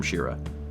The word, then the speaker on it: Shira: Best wishes, from Shira. Not the princess, but pronounced the same.